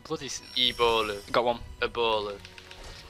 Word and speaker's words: Ebola: Ebola. It's like a tombola.